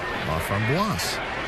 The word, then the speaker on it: Laframboise: He spells his last name L-A-F-R-O-M-B-O-I-S-E. He is a lefty, and he gets ready to face Andrew Romine, who will be batting us for the first time today. The French pronunciation, of course, Laframboise.